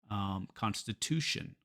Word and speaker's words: constitution: But in English, it's always the syllable before the ion. So we have action, action, division, division, constitution.